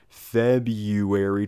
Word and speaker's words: February: second R and fit none of us pronounce the only are the first are in February you see this man